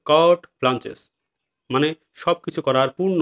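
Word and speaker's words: carte blanche: তো পরবর্তী ওয়ার্ড হচ্ছে কি কার্ট ব্লাঞ্চেস। দেখো কার্টে না কিন্তু উচ্চারণ হচ্ছে কার্ট ব্লাঞ্চেস, মানে সব কিছু করার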